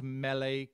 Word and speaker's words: mele: you'll see the word melee a lot it's pronounced melee kalikimaka it's a wine themed christmas song it